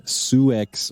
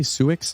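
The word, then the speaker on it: Sioux: on a prop poverty-stricken suex reservation do you say suick's suicks sue yeah that's what i said s-i-o-u-x right spelling x is silent uh that one made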